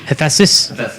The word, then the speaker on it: Hephaestus: How do you pronounce his name? Hephaestus.